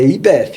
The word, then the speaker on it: YPF: na nossa casa matriz é IBF a pronúncia correta e a gente no